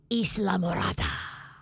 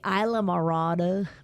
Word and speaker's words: Islamorada: as we learned it is pronounced the original pronunciation Islamorada okay Spanish Spanish island white people say I la mirada but if you pronounce it as the early